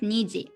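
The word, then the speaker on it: 二時: the time etg for one o'clock two o'clock niji three o'clock sanji four o'clock five o'clock koji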